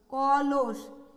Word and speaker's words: কলস: আর কলস আছে দন্ত স, আমরা এটা উচ্চারণ করি স এর মতো। তাহলে আমরা এখানে দন্ত স না লিখে অবশ্যই তালব্য স লিখব, কলস।